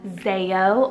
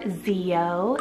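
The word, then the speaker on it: Zeyo: We have Zeo or Zeo, spelled Z-E-Y-O.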